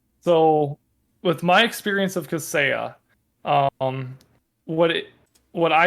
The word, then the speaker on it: Kaseya: I think it's Kaseya. I have no clue. Um, I and Oh, Kaseya. That's how Kaseya. you pronounce Okay.